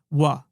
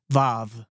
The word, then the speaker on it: vav: The section we're interested in here is the section corresponding to the letter wa, or as it's pronounced in modern and rabbinical Hebrew, vav.